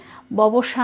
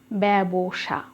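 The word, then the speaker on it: ব্যবসা: পারছো তারপরে আছে কি বয় জফালা এটির উচ্চারণ কি করছি ববসা নয় অনেকে বলেন এটি সঠিক উচ্চারণ ব্যাবসা এখানে আমরা ওকার দিয়েছি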